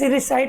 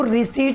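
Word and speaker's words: recite: तो let's रिसाइट का मतलब क्या होता है? चलो दोहराते हैं। इसको रिसीट नहीं बोलना है, अच्छे से प्रोनाउंस करना आना चाहिए।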